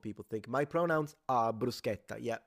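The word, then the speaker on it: bruschetta: think my pronouns are brusketa yeah brusketa not brushetta though brusa there we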